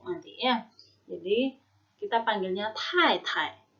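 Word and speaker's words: 太太: Jadi kita panggilnya Tai Tai. Tai Tai, ingat T ada anginnya ya, Tai Tai.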